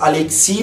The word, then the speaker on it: Alexis: Aliás, Alexi, porque S em francês é mudo.